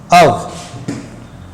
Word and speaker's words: of: जैसे देखिएगा, collective noun लिया, इसके बाद मैंने लगाया ऑफ, हालांकि इसका सही उच्चारण आपको पता होना चाहिए, अव।